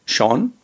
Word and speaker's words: Sean: If you can, his name is Sean O'Malley, S-E-A-N, Sean. It's pronounced as Sean.